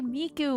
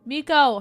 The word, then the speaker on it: Miko: Why do I always say Miku when I say... It's because it's Sakura. And for some reason, when I say her name all together, I say Sakura Miku instead of Miko.